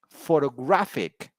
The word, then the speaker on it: photographic: the second syllable and in the third word the word stress is on the third syllable photographic photographic graphic all right